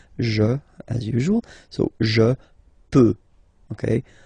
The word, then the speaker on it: peux: So je peux. Okay, final X not pronounced here. Okay, so you get X, but you don't pronounce it. So basically, you get the sound peut. Je peux.